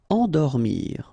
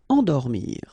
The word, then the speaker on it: endormir: Endormir, okay? Nasal here, en, and then dormir. Endormir.